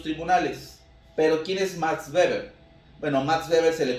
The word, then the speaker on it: Weber: O, por poner otro ejemplo, Max Weber, o Weber para algunos, su pronunciación es Max Weber, define el Estado como